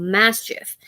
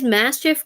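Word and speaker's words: Maschiff: gen 9 Pokemon called Mastiff at least that's how everybody online has been pronouncing this Pokemon's name you can't really tell from the actual spelling of the name but we'll call it master um and it is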